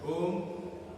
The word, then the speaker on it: ओम: Inhale, एक बार inhale करने के बाद एक्सेल के साथ ओम का उच्चारण करना है। ओम तीन शब्दों से बना हुआ है। अ, उ, म। म साइलेंट होता है।